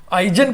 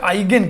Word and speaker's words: Eigen: आइजन कहिए चाहे आइगेन कहिए, दोनों उच्चारण चलता है। कुछ लोग आइगेन पढ़ते हैं, कुछ लोग आइजन पढ़ते हैं। जर्मन वर्ड है ये, मैं आपको बता सकता हूं।